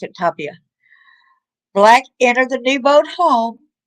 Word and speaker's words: Tapia: Tapia, they pronounce it Tapia.